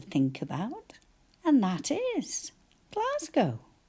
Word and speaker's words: Glasgow: about and that is Glasgow. How many syllables class go? G A and you're quite right. It does sound like Z, but we write an S and then G O.